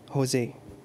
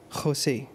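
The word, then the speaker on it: José: اسمي JOSE، هكذا يكتب، ننطقه في الفلبين كما في الإنجليزية هوزي، وفي العربية يصبح كما في الإسبانية خوسي، وفي البرتغالية بالحروف ذاتها يكتب ولكنه ينطق جوزي.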